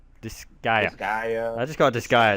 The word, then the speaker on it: Disgaea: Days goes out, and then probably do the Saiga 5, or just do the Saiga 5 on my own. I know that... oh man, the way you pronounce that. Disgaea. Disgaea.